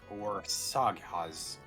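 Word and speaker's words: Országház: Hermit Crad King of Beasts says it's pronounced Orsaghaz. Or Sagas?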